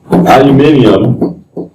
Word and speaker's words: aluminium: Aluminium oxide. Never heard called aluminium? It's a British pronunciation. You put an extra ium in it.